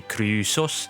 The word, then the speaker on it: Chrysos: And we're getting right into it because Chrysos is actually supposed to be Kusos, the ancient Greek word for gold.